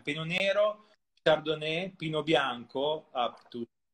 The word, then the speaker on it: Pinot Nero: Let's pronounce it in Italian. Pinot Nero, Chardonnay, Pinot Bianco up to 50%, and Erba Mat up to 10%, which is the latest arrival.